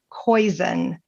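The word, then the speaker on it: Koyczan: for a bad day and it's by Shane koen and it's spelled k y CZ an Shane koen you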